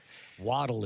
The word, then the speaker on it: Waddell: would mispronounce our name, that's the fine French pronunciation. Waddle is the true Scottish and English pronunciation.